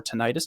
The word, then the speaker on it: tinnitus: And then less common symptoms may include tinnitus or tinnitus, depending on your pronunciation, worsening allergies, pins and